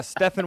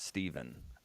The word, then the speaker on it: Stefan: a business and remembering his name is pronounced Stefan and not Stephen so I think that'll